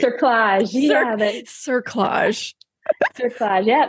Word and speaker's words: cerclage: You said at 36, they cut how do you say it? Collage? That's not right. Cerclage.